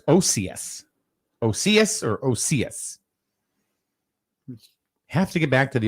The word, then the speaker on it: Occeus: And it's pronounced Occeus.